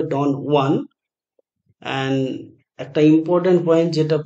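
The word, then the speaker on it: Don Juan: Lord Byron এর বিখ্যাত ডন ওয়ান ইট is satirical epic poem based অন Spanish ফক legend so এটা Spanish name তাই এটার উচ্চারণ হবে ডন ওয়ান এন্ড একটা ইম্পর্টেন্ট পয়েন্ট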